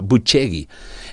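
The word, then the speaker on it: Bucegi: ¿Qué crees tú que podría revelar el hallazgo subterráneo en en Bucegui eh que en romano se pronuncia? Porque le pregunté, "Oiga, ¿y cómo se pronuncia en romano?" Buchegi.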